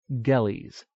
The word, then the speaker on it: Gelles: At end of name, ES is sounded long, capital GELLES, Gellies.